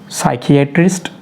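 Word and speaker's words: psychiatrist: साइकियाट्रिस्ट, साइकोलॉजिस्ट और psycho, P से start होने वाले वर्ड और उनके बाद में एस आए तो हम लोगों ने पी को पढ़ना नहीं है, उसे साइलेंट रखना है।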